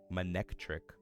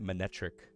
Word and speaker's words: Manectric: I didn't know there was a C in there. Manectric. I always pronounce it manetric.